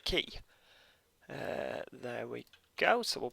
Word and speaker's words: Quay: I promise you it's Quay. I know it's spelt Quay, as I thought it was for many years, but no, it's definitely Quay.